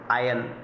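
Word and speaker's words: iron: जैसे यहाँ पर हम देख रहे हैं आयन, इसे आयरन नहीं पढ़ा जाता, इसमें जो आर साइलेंट होता है आयन।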